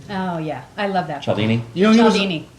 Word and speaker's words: Cialdini: Cialdini?